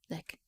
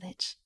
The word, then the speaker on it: lich: Sorcery and witchcraft lend an ancient spellsmith the power to live forever in the husk of a lich. Is it lich or like? Lick. I say lich.